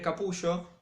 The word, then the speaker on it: Capullo: hizo Mark Miller y gre capullo o gre capulo si lo quieren pronunciar como en Estados Unidos que gre capulo es